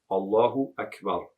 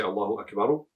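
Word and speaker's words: الله أكبر: And you should put sukoon on the ra. Don't say Allahu Akbaru, say Allahu Akbar.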